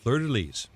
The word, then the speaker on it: fleur-de-lis: It's a purple hat with gold fleur-de-lis. Is that how you say it? That's excellent. Fleur-de-lis.